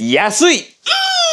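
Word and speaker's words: 安い: and expensive like OMG cheap is yeah sweet how do you remember when you find something cheap how do you feel you feel like oh yeah sweet yeah sweet yes sweet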